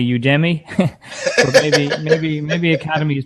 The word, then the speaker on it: Udemy: is their tagline so i guess it's pronounced the same as academy which is you to me to me so yeah